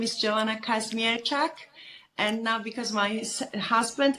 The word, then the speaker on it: Kazmierczak: going here back and forth how do you pronounce your last name uh my name is Joanna Casmir and now because my husband ismir okay perfect